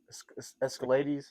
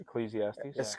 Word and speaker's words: Ecclesiastes: head, but it's I mean, I can't even pronounce the book. Escalades. Ecclesiastes.